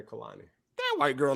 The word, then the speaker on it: Kalani: girl's name her name Kalani that white girl name ain't no Kalani like the artist like the music artist singer yeah I guess it's spelled k-a-l-a-n-i oh Kalani how long